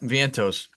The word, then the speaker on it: Vientos: Vientos? Is that how you say it, Zach? Yep, Vientos.